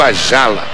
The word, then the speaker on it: Ayala: De cabeça sobe o Ayala, conhecido como Ajala. Na Argentina ele se pronuncia o Ajala. O Y fica um som de J.